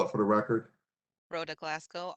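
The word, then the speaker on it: Rhoda Glasgow: glasow can you please state your name and spell it for the record Roa Glasco r h o d a g l a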